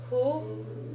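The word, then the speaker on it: ふ: be ha he who notice that the pronunciation on this one is a little off it's not quite an H but it's not an English style F either it's somewhere in between the two so the way you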